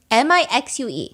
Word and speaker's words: Mixue: M-I-X-U-E. How do you pronounce that?